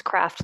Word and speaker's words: Kraft: My last name is craft like the cheese and macaroni. So, it's spelled with a K like the macaroni and cheese.